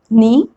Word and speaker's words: knee: The spelling is K and N, but I'm pronouncing only N. So that's the rule. K is generally not pronounced when it comes before N at the beginning of a word.